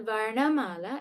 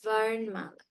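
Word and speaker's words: वर्णमाला: In Hindi, it is written in the exact same way, but is pronounced Varnmala. Varnmala, meaning it is as though there is a halant on the ra. So it's not Varnamala, it is Varnmala.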